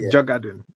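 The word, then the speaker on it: Djurgården: Honestly, yeah, the the D the D is almost silent. It's you know, Jugad.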